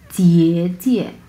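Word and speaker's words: 姐姐: এবং এখানে আসি, এটা হচ্ছে জিয়ে জিয়ে জিয়ে, প্রথম অংশটা হচ্ছে 3 নাম্বার টোন, সো আমরা উচ্চারণ করব জিয়ে জিয়ে জিয়ে, হ্যাঁ পরের অংশ নিউট্রাল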